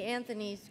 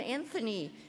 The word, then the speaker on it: Anthony: And how come you pronounce her name Anthony with a TH instead of Antony, the way it should be pronounced?